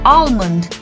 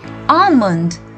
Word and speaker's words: almond: we pronounce this as almond but here we have to mute the l and we say almond say it once more